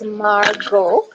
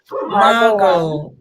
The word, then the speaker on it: Margaux: wrongly so markups can you help us by pronouncing your name please hello everyone my name is margo margo okay okay okay so um so we'll start